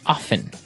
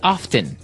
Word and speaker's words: often: people like to pronounce often right they kind of leave out the strong T sound while other people say often right both forms are